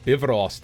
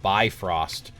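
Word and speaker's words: Bifröst: why is he saying bivrost instead of by Frost because it's not by Frost it's it's an Icelandic word it's uh the f is kind of pronounced like a V so it's Bost so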